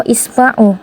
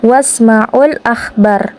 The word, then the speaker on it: wasmaul akhbar: Maka hamzatul wasal itu tidak dianggap, bukan dibaca wa ismau, akan tetapi dibaca wasmaul akhbar dan dengarkan radio-radio.